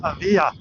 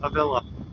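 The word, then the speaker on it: Avilla: A lot of people might say that's pronounced Aia, but we're in the Midwest. We are country hoosers, so we say it a villa.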